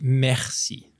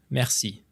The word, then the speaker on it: merci: Oh, this gets tricky too because the French we roll our R's, which some people are really horrible at, and I won't judge you. It's okay, but like it would be merci, merci.